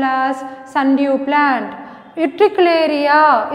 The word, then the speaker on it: Utricularia: Utricularia, it's commonly called bladderwort.